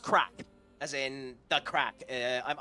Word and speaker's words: craic: um it's it's pronounced crack as in the crack I'm Irish so you know the the as in a good time the crack uh so state that